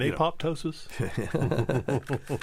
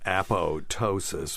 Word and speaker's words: apoptosis: cell death you mean apoptosis yeah so it's just for people out there it spelled Apo p t o s i s but it's apotosis when the p is silent no it's it's all